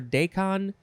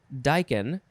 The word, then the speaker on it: daikon: daikon daikon i think some people might say daikon or decon uh but it is officially pronounced daikon k o n noun from